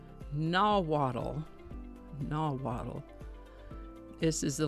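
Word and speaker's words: Nahuatl: For today's word, we're going to look at a word that comes to us from a language called nawwaddle.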